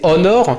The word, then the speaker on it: honor: la même manière que honor qui veut dire l'honneur se prononcer honor sans h on pourrait citer hora